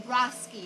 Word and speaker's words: Rosky: say your last name broski oh it is ross it's like rocky only with an ass with an s okay uh and you